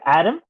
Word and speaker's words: Adem: five here I am with my great Boy Adam right that's how you pronounce it yep that's right so um first